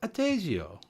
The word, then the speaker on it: Adagio: Adagio.